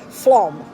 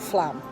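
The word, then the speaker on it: Flåm: Flom, not Flam. For some reason, they pronounce an A as an O.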